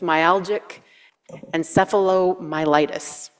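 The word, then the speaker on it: myalgic encephalomyelitis: healing until finally she would was diagnosed with myalgic and seom militis I actually said it right otherwise known as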